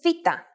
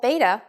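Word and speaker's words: βήτα: in the English alphabet its name is VA in English it is commonly called beta but in fact this letter has a v sound don't get confused because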